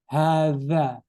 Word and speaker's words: هذا: Dhal, you put the tongue between your teeth. You say dhal. So everybody try with me, please. Dhal. هذا. هذا. هذا. Not like Z.